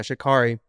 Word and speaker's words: Sha'Carri: Yeah, Sha'Carri.